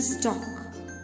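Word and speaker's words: stalk: is known as the stock stock s-t-a-l-k here l is silent okay so we pronounce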